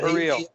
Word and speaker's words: Berrios: Proper pronunciation? Berrios. Yeah, Berrios. The accents on the second syllable.